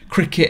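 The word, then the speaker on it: Cricut: the kker or Cricket cricet Expression it's called and yeah cuz we kept saying it wrong didn't we yeah we kept saying fry cka is cricet apparently like cricet the cricet expression and this thing is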